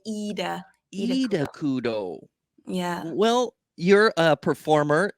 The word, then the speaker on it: Ida Kudo: say your name right idao because you are like Scandinavian I'm yeah we don't pronounce yeah we don't pronounce the eyes as I we pronounce the eyes as e so you'd say eudo yeah well you're a